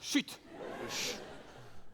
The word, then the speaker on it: CHUT: Ça se prononce chute.